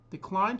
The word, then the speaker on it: decline: Decline. The stress is on the second syllable. Decline can be a noun and a verb.